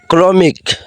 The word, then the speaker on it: ক্রমিক: লক্ষ্য করলেই বুঝতে পারবেন ক্রমিক ক্রমিক কর ফালা ক্র মরিকারে মি ক মিক ক্রমিক কর র ফালা ক্র